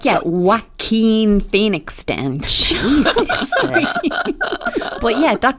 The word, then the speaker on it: Joaquin: no it's pronounced uh Joaquin Phoenix yes it's like it's a Spanish name or something right yeah like a